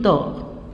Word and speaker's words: dort: Il dort. Le T ne se prononce pas.